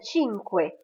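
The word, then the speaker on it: cinque: petites choses à savoir le C avec le I ou le E se prononce che par exemple le mot chita de tout à l'heure ou bien chinque qui veut dire 5 ou bien qui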